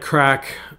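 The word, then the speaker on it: craic: He goes, so he goes, we're going to crack on and keep at it.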